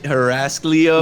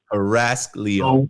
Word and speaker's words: Heraclio: chat all the time that's how you say my name harass leo why i'm dominican just